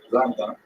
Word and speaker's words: Rambam: Rambam is pronounced with the emphasis on the first syllable, Rambam, and Ramban is pronounced with the emphasis on the second syllable, Rambam and Ramban.